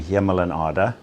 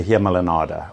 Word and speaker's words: Hemel en Aarde: We worked together under the name Hemel and Aarde. Seems very hard to pronounce. It means heaven and earth. Yeah, in Old Dutch. And so collectively, the whole area we call the Hemel and Aarde, although it's not a legal term.